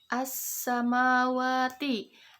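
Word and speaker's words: السَّمَاوَاتِ: As-samawati. Alif lam bertemu dengan sin.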